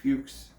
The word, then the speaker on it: Fuchs: we tell him that it's most likely pronounced fuchs i'm assuming it's f-u-c-h-s yes yeah that's typically pronounced fuchs well if it was